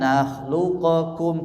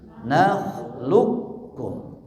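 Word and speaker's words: نخلقكم: Bacanya jangan nakhluqakum tapi nakhluqkum.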